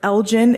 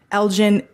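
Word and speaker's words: Elgin: Um one I'd like to note is Elgen, Illinois, Illinois. Uh my Chicago friends will call me out for that. Um it's spelled E L G I N. Elgen, Illinois. and their resolution is prohibiting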